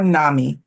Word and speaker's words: NAMI: Both are with the National Alliance on Mental Illness, or NAMI, as it's pronounced.